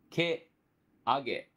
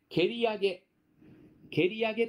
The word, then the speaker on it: 蹴上: ということで、この蹴上げ、馬が泥を蹴り上げたことから蹴上げと言いましてね、